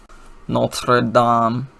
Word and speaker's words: Notre Dame: Notre Dame, that's how you're supposed to pronounce it.